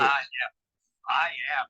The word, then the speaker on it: I Am: I Am. That's amazing. And we pronounce it Iam, so we just call him Iam Ashton.